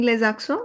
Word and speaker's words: les accents: Because there's going to be the liaison of these two words. And when s and a are liaison, we get the sound of za. e n gives you the aw sound and t n s both are silent.